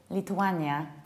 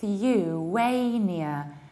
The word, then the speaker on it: Lithuania: Usually people say Lithuania or Lithuania. So you should say Lithu with the os, Lithuania, Lithuania. Americans might say Lithuania, Lithuania.